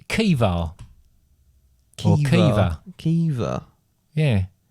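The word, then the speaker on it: Caoimhe: Craig. Craig? It's actually pronounced Kiva.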